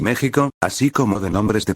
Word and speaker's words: México: a j sino que siguieron escribiendo second x de ahí la actual pronunciación de topónimos como texas y méxico así como de nombres